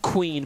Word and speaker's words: QueVeen: the match started that it's just queen but the v is silent which again would be